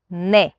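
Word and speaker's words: ναι: It's a bit weird because they pronounce it like no. They will say nay. So you think they're saying no, but they're actually saying yes.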